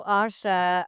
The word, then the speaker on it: Asya: Um, I am Asha Rose 13 on Instagram, TikTok, and I believe YouTube. It's spelled Asya. My name is pronounced like there's an H, but it's spelled with a Y.